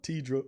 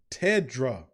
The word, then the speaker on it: Tedra: Tidra says, Tidra, please say it like that. Tedra.